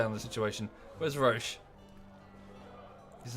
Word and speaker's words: Roche: about yeah rosh's uh sorry roach but his name is pronounced roche weird okay there's no a in there it's not i